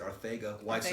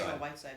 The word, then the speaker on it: Arcega-Whiteside: That's how you pronounce it. Arcega-Whiteside. Arcega-Whiteside, yeah. Even though there's a C in there.